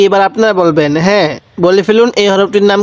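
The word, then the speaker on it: ه: হরফটার নাম কি হা এই হা টা উচ্চারণের সময় মুখ দিয়ে হালকা আওয়াজ বের করব হা এরকম ভাবে একটা আওয়াজ করব তাহলে ওয়াও এরপরে হা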